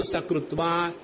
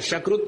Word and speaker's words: सकृत्: सकृत कहना, शकृत मत कहना। हमारे जो गुजराती और बंगाली बंधु हैं, उनके उच्चारण में बड़ा आनंद आता है। पहले बंगाली बंधुओं की बात बताओ। स को वो श कहते हैं बंगाली बंधु।